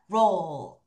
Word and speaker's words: roll: 너의 혀가 roll. 이렇게. 그래서 윗니 뒤를 치는 거야, 마지막에. 자, 같이 할게요. 준비, 시작. roll. 한 번 더. roll. 빨리 roll. 이렇게 안 되지. 왜냐면 혀가 살짝 굽혔다가 윗니 뒤로 가야 되니까 시간이 필요하죠.